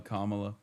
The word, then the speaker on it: Kamala: That is how you say Kamala. Kamala these things, you know, Tinder banned him, which is I've been banned from Tinder.